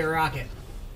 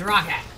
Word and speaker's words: Rockhat: I always used to say Rocket, and I got made fun of for it, so now I don't, because it's Rockhat.